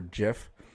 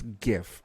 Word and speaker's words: GIF: in the comments below if you say gif or jif just a fun fact it's it's gif okay it's not a peanut butter uh you know gift